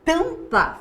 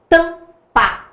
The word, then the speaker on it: tampa: Tampa. Tá vendo? Então, o A e o M tem apenas um som. Duas letras representando um som.